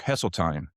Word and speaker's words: Hesseltine: Today's guest is Brooke Hesseline. Did I pronounce that right, Brooke?